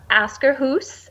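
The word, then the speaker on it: Akershus: Yeah, we did the Askerhus, and I'm Scandinavian, so I can say it correctly.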